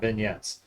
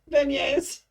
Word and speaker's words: beignets: the initial stuff but am i saying it wrong yeah what are they beignets or whatever ben yes